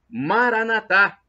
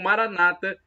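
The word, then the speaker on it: Maranatha: E agora, do aramaico, dialeto de Jesus, eu clamo Maranatá, como dizemos nós católicos, ou Maranata, pronúncia dos evangélicos ou protestantes.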